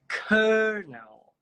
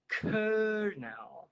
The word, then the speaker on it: colonel: A pronúncia dessa palavra, pessoal, é essa aqui, ó. Colonel. Colonel.